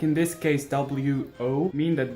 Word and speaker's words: 我: The pinyin is composed of alphabet letters, like in this case W-O, mean that this character should be pronounced wo.